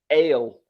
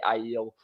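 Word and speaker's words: Aiel: they're really pronounced so i always called them ale when i was uh you know ale and ailment and then it's ilman so uh that's another one that was like a big one that i just pronounced differently and i still have to try and make myself say i yield anyway we should we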